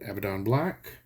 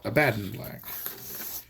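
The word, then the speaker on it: Abaddon Black: for a hundred years I called it evadon black until I heard a British lady in a GW painting dealio call it abandoned black uh and I know that Brits and Americans have different pronunciations however uh I feel like they invented it so they get they get to decide how it's pronounced okay now you can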